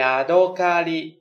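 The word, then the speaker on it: やどかり: คือ ตัว ลิ นะ ครับ ออก เสียง ว่า ยาโด คาริ ยาโด คาริ นะ ครับ ก็ คือ ปู เซฉวน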